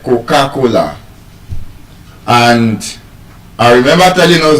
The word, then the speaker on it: Coca-Cola: It's Coca-Cola. The stress is on the third syllable.